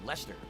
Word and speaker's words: Leicester: I never knew it was pronounced Leicester, because it's a lot of silent letters there.